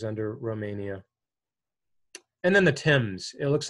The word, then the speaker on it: Thames: Black Sea goes under Romania and then the Thames it looks like fames but it's pronounced Tim's it's a short River it just goes through